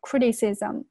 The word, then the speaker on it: criticism: 那接下来呢，我们来看一下本段所涉及的一些发音常识。首先呢是第一句话，the insults，注意下这个 the 发声变音，the insults，注意下这个单词哈，在做名词的时候，它前面重读 insults，变成这个动词的时候，它后面要重读 insults，然后这个地方连读 the insults，然后这个地方是。Insults, 然后 criticism, 注意一下这个单词 criticism, 注意一下 t, 我有两个元之间呢它有一个浊化 criticism, were not unexpected, 注意一下这个单词